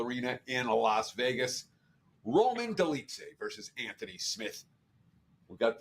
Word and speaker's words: Dolidze: Roman Dolidze versus Anthony Smith. We've got Dolidze, and I think I'm pronouncing his name right, but I could be completely off.